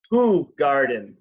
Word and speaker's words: Hoegaarden: And how is it pronounced? Hoegaarden.